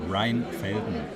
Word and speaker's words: Rheinfelden: Rheinfelden.